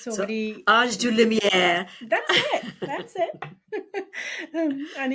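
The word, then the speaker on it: DeLumière: So it's pronounced DeLumiere, but I really don't want anyone to stress over how to pronounce my name. I think it's So, already, Ange du Lumière.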